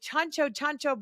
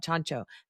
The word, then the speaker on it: Ciancio: Literally, folks, it's spelled CIANCIO. I would never in a million years thought Chancho.